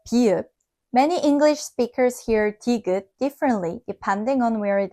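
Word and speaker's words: 디귿: This time, many learners hear the second syllable closer to da. So, they ask, is digeut sometimes T and sometimes D? Just like bieup, it isn't exactly English T or D. It's the Korean consonant digeut.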